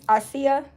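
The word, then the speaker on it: açaí: It's ASEA.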